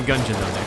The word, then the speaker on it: Gungeon: clicking it to the it's not pronounced gunjan in this game oh no its guns what did you think it was well you say gun I mean we are in the gungeon oh oh oh wow